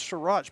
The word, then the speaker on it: Surratt: This Surratt's pretty good. Yeah. Sorry, that receiver's Surratt. pretty. That's Surratt. Surratt. It's a short A sound.